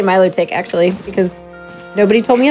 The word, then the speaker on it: Milotic: Iris fafs who says the anime pronounces this very good noodle friend number 350 as Milotic please discuss melodic is right yeah I agree well they it's Milo tick that's how they say it in the anime yeah melodic is what